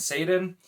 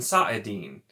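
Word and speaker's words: saidin: just being overpronounced and if you look at it phonetically it's actually apparently sa dar and sa it di saadan so not even saidar and saeedin it's sa'adar and saadin or it's a den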